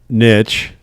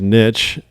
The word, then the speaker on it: niche: a niche guy yes there's two ways to say the word niche there's the right way which is niche and there's the annoying